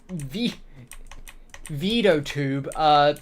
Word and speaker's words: VeadoTube: You just download this program called VeadoTube, pronounced spelled VeaDotube, and you just put some GIFs in it, and that's about it.